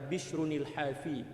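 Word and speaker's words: بشر الحافي: Jadi cara membacanya adalah Bishrunil Hafi, ya. Bishrun itu kan apa, dia tanwin kan. Kita nak sambung dengan Al-Hafi yang menggunakan alif lam itu kan, liltiqa'is sakinain.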